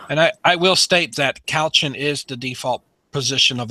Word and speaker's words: couchant: Couch it. Like you're laying on a couch. Well, couchon is like the French pronunciation, so that's what I tend to do. But couchant is fine.